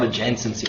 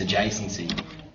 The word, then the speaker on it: adjacency: There's no N before the first C. It's not adjacency, it's adjacency.